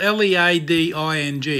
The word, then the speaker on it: leading: Leading is spelled L-E-A-D-I-N-G. It's not leading, it's leading, as in bedding.